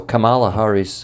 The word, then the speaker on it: Kamala: with you listening yesterday uh Camila Harris or Cala Harris I I'm not sure which is the right pronunciation of her name when she was yeah I I've heard k mhm okay thank you so Kamala Harris when she was uh given the press release